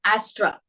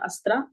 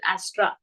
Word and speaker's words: Astra: on to uh project Astra I think it is pronounced as that only it is not asra if I'm not wrong Astra